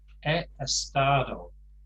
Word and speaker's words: estado: uh complaints in spanish that's e estado don't forget we don't pronounce the uh h it's not a stardom um my husband has